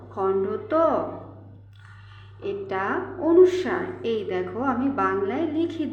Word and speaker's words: অনুস্বার: করব ত খন্ড এটা অনুস্বার এই দেখো আমি বাংলায় লিখে দিয়েছি তোমরা অনেকে অনুষ্কার বলো হবে না কি হবে অনুস্বার তো তোমরা ভুল করবে